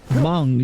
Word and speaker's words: Hmong: Hmong shamanism. I hope I'm remembering how to say that properly. Also, why do they decide to put a silent H on that?